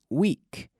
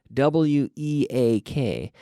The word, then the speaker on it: weak: warm Debbie Debbie L this is weak w EA k pronounce the same as weak de semana w ee k but here Debbie weak